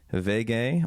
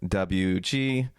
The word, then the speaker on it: WG: i'm sitting here in my new apartment my vega or wg in an english pronunciation which is what you